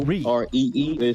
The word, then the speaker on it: O'Ree: let's say hi to Ori Ori Ori how do you say your name my name is a wreath ello REE REE the emphasis on the are you know it's French in yeah you know I